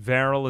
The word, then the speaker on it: Varel: Varel is the fastest, whose name rhymes with barrel.